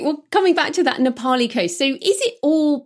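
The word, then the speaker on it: Nā Pali: Nepali.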